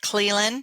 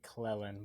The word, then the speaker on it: Cleland: And today I have a special guest with me, Cleland.